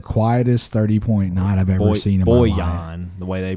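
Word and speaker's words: Bojan: he had the quietest 30.9 I've ever seen Boyan the way they pronounced it last night we were we were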